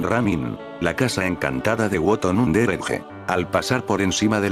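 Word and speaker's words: Wotton-under-Edge: y cuidadas calles de Woton Underedge, o como lo pronuncian los lugareños, Woton.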